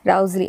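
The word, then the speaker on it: Wriothesley: are William Herbert and Henry rousely I believe that is how the name is pronounced now these two people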